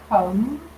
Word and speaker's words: comb: Then we have comb with a silent B.